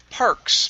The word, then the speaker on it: parks: up is the word parks make sure to pronounce the s at the very end okay cindy's favorite parks